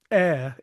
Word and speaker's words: ere: For sure, Because ever is 2 syllables and ere is 1 syllable.